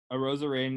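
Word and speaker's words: Arozarena: thoughts i do um a rosarian uh uh rhymes with macarena first of all second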